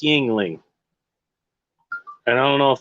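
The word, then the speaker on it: Yuengling: how to pronounce it it's pronounced yingling and i don't know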